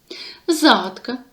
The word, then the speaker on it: загадка: і відгадувати загадки пригадаємо загадка зверніть увагу увагу на наголос загадка на а першу жанр усної народної творчості